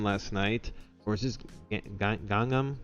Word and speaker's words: Gangnam: Or is this Gangnam? Gangnam, that's how it's pronounced. Gangnam style? Gangnam style, exactly, just like the song.